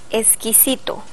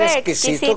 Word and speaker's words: exquisito: palabra exquisito o extraordinario la letra X Cómo se pronuncia como s exquisito extraordinario el español americano es